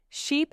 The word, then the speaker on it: sheep: Yes, ship is short, sheep is long.